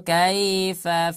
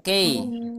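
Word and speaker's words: كيف: Alam taro kaifa Nah, jadi jangan dibaca kei. Nah, tapi dibacanya kai.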